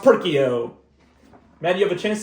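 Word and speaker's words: Perkeo: It's not and it's pronounced perkio.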